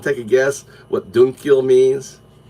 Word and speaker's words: Dukkyo: Dunkyo. It's spelled Dukkyo.